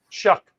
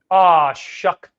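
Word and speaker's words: Shough: Shuck. There you go. One more time for everyone at home, Phil. Shuck. There you go. Tyler Shuck.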